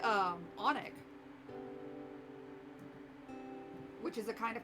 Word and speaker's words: Alnwick: It's Onic Castle. Or is soup just seasoned water? English being English. Especially things in, like, England, like, to just ignore letters.